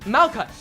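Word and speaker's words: Malkuth: character has to offer malut yeah it the th is silent malut so she is a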